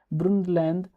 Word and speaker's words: Brundtland: Brunland according to German pronunciation Brunund report 1987 and our common future.